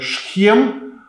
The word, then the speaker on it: Сихем: Но был и иной путь, который пролегал как раз через город Сихем, или другое произношение Шхем, древний город, который в этот период был населен самарянами.